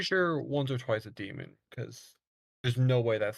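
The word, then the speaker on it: daemon: it's D Aon yeah it's still pronounced demon but it's spelled donon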